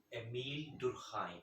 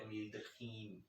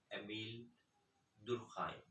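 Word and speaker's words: Émile Durkheim: And I checked the pronunciation on a French website. It is Emile Durkheim, not Emile Durkheim, etc.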